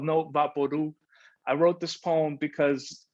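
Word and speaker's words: Vaporú: vaporu no vaporu papodu is pronounced vaporu like loud or true the label for vaporu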